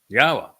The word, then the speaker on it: Yahowah: of his name his shim that it is pronounced yahwa uh there is another of course exceedingly common